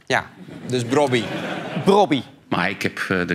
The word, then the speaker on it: Brobbey: Robbie heet brian Robbie de naam Robbie spreek je uit eh ja met een o dus eigenlijk een Yes zoals je het schrijft ja dus Robbie brobby maar ik heb eh